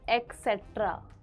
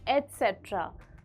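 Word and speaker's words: etcetera: नहीं एक्सट्रा होता है एट्र very commonly miss pronounced as एक्सेट्रा जबकि इसकी सही प्रोनंसिएशन है एट्र for example please bye some fruits for मी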